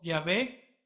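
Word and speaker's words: Yahvé: de y hw vih algunos los pronuncian como ya fue y ya ve y nosotros lo planteamos como jehová cierto erudito judío y amados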